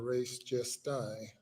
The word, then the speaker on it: res gestae: under the theory of res geste or res gestae, as some might pronounce it.